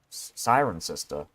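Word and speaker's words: Cirencester: sarin sinster sinster I don't know how you pronounce that I think it's sinster hold on let me Sirencester. Siren sister.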